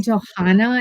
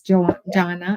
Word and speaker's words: Johnna: I always want to call you Johanna, and it's Jonna, It's Johnna. Like Jonna, John.